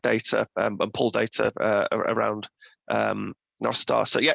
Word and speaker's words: Nostr: Well, I pronounce it Nostar because Nostar is Welsh for good night, so I like that. Other people call it Nostra. Some of the Central Americans call it Nostra, but that's wrong.